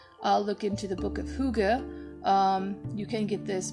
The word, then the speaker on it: hygge: art of uh i used to call it high g but it's actually hygge in danish so apologies to my danish listeners